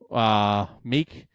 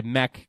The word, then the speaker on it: Meek: welterweight contest Guzman first Emil meek I think I took weaken them or I should say MEK that's how they pronounce it I think I took